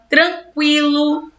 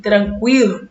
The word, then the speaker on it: tranquilo: conhecer linguee we 50 percebem que a pronúncia continua assim mesmo a mudança foi na escrita delinquente eloquente ensanguentado frequente linguiça sequência tranquilo né ninguém vai sair